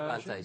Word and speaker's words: Levante: Levante, is that the correct pronunciation? Levante, si.